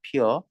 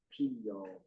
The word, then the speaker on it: 피어: 꽃이 피다에 어가 붙으면 표준 발음은 그대로 발음하는 겁니다. 피어. 그런데 사람들이 피어를 피요. 피어로 자꾸 발음해가지고 두 가지를 다 허용했어요.